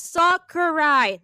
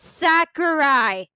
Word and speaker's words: Sakurai: A, it's pronounced as Sakurai, not Sakurai.